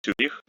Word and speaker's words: Zurich: But when we pronounce the name of the Swiss city Zurich, we make ц soft.